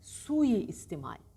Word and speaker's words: suistimal: geliyor ihtimal ne istimal suistimal bir şeyi suistimal etmek çiftiyle ile suistimal değil Suistimal bu Rahatsız rahatsız şeyleri arasında